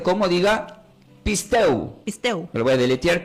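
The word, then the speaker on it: πιστεύω: Y como del griego se pronuncia como, diga, pisteu.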